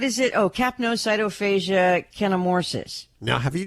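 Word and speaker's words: fascia: these and I'm like they kept saying CYO foga cyto fog and I'm thinking huhuh I know it's fasia so I I finally went found like a medical site with pronunciations I'm like okay we were right somebody apparently just had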